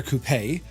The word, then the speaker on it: coupe: air coup or Air coupe 415 you see we say Coupe Americans say a coupe you put chickens in a coupe you put nice things